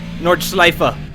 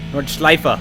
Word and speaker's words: Nordschleife: Nordschleife! I try to pronounce the E at the end for my German viewers. Nordschleife.